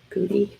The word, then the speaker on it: Goode: Matthew, is it Goody? how do you say his name? Good. Goode.